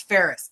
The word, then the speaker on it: Ferris: do at the DMV it's Ferris Fe r i s or Ferris wheel take off the wheel